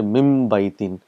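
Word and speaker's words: مِنْ بَيْتٍ: So there's a little bit of pronouncing, a little bit of tajweed here. You will say mim baytin. So mim and ba is pronounced together.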